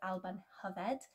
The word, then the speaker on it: Alban Hyfed: Another name for this equinox is Alban Hyfed.